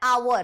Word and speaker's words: hour: हम प्रोनाउंस कैसे कर रहे हैं, हम इसको प्रोनाउंस कर रहे हैं आवर, तो अ का साउंड से शुरू हो रहा है, इसीलिए एन आवर, एन ऑनर, an honest, N honourable, N honorary, N.